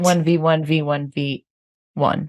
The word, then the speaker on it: 1v1v1v1: 1v1v1v1. You have to do a pause before the last one.